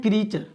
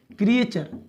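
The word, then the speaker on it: creature: इसको देखिए, बहुत लोग पढ़ते हैं क्रीचर, क्रीचर, लेकिन गलत। क्रीचर नहीं पढ़ना है, क्योंकि क्रीचर बोला तो आ छूट गया, ए का प्रोनाउंसिएशन छूट गया, इसीलिए इसको क्या पढ़ेंगे? क्रिएचर, क्रिएचर, क्रिएचर, क्रिएचर। इसको क्या पढ़ेंगे? क्रिएचर, क्रीचर नहीं, क्रिएचर।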